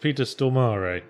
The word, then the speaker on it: Peter Stormare: stor belly Zach baracus though apparently it's pronounced Peter Stormare stoar whoa which I think I like more cuz it's a little more melodic St where are you